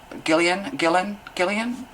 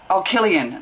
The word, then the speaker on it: Cillian Murphy: Like, was it that Irish actor from Oppenheimer, Gillian, yeah, sorry, Murphy? Killian, that's how you pronounce it, Cillian Murphy.